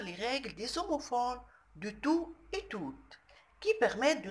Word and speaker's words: tout: On fait la liaison. Le T qui est à la fin de tout et le U de usé.